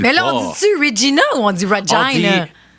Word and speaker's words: Regina: Il faut prononcer Regina comme vagina.